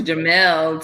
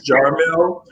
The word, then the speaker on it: Jamelle: did pronounce it correct it's jarmill but even my mother calls me jamel so everyone calls me